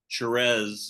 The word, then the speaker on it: Thérèse: And thank you for pronouncing Therese as she's supposed to be pronounced. I am from Louisiana, so we have that French influence.